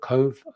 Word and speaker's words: Cobh: call into Dublin and Cove I hope I pronounce it correctly cobh which is an